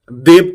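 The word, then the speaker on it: debt: is women women this is women তারপরে এটা ডেট না দেনা ডেট ডেট ডেট তারপরে এইটা রশিদ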